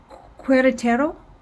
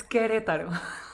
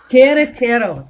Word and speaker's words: Querétaro: Queretaro? Do I have that? Is that right? Am I saying that right? Almost, because the U is silent, so it's Querétaro. Queretaro.